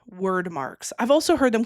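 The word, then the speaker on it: Wyrd: So there are word marks, which are basically these circle rune type symbols.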